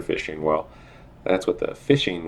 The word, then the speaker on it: phishing: Well, that's with the phishing with a PH, even though it's pronounced like fishing for fish.